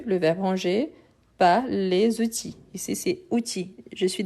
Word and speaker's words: outils: Donc, outils. Donc, les enfants ne rangent pas les outils. Outils, c'est une exception, on ne prononce ni le L ni le S.